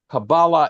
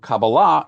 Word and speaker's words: Kabbalah: So is it Kabbalah or Kabbalah? And the answer is both. Kabbalah is the Ashkenazi way of pronouncing the word, like Shabbos or Talis, and Ashkenazim are Jews of Eastern European origin.